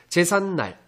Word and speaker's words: 제삿날: 제삿날. 자, 니은 앞에서 니은 소리가 덧나고 있습니다. 제삿날.